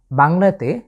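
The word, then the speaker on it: باء: এই বর্ণটি উচ্চারণের ক্ষেত্রে আমাদের ঠোঁটের ব্যবহার হচ্ছে।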